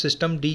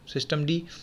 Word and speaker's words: systemd: यहाँ पर हम पेरेंट प्रोसेस सिस्टम डी के नाम से प्रोनाउंस करते हैं, सिस्टम डी, जिसका आपका प्रोसेस आईडी